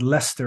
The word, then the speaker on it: Leicester: You live, and that's pronounced Leicester, right? Because you just like ignore letters in your words.